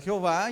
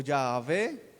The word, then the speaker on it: Jehová: Y ahí es que se conoce como Jehová o Jehová, pero así como yo les dije, se puede pronunciar Jehová, Jehová o Yahvé, pero nadie sabe realmente cómo se pronuncia porque es una lengua muerta.